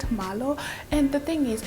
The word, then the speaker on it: Marlo: Yes, that's how you pronounce it, Marlo.